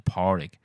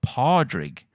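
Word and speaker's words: Pádraig: name is Porrig, and she can't say it properly because it's an Irish name, and it's she just wasn't saying it right. And she was like, I always call him Podrig. And I was like, well, okay, but it's not that far off.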